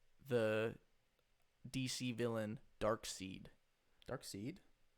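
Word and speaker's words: Darkseid: DC villain dark seed dark seed right that's how you say it I thought it was dark side I always thought it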